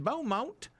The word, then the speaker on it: Beaumont: The Danny Adjusted Radio program as we wind through our baseball and head down to Texas in Beaumont, where you got to say it like that.